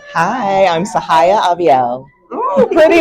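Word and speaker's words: Syhaya: Hi, I'm Sahaya Aiel. Pretty name. Sahaya. Can you spell it for us?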